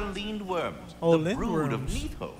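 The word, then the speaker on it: Lindwyrm: no young Master atreus those are leaned worms that's how you pronounce it I attend the branches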